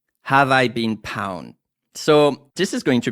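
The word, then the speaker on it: Have I Been Pwned: I beam pwned dot-com how do you spell that h AV e i b een pw n EG calm have I been pound so this is going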